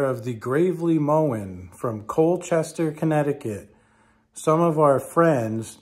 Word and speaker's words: Colchester: if you're looking how to pronounce this connecticut town it's not cool cheesester it's colchester or if you're from boston it's colchester uh